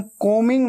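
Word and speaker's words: combing: आप बाल बना रहे हैं, आई एम कोमिंग my hair, कोमिंग, कोमिंग ऐसे बोलना है, ठीक है। बी हमेशा साइलेंट होता है, स्पेलिंग में आता है लेकिन बोलते वक्त उच्चारण में नहीं आता, प्रोनाउंसिएशन में नहीं आता।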